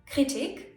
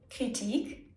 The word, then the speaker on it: Kritik: Some words even work both ways, meaning that both the long I and the short I are correct ways of pronouncing the word.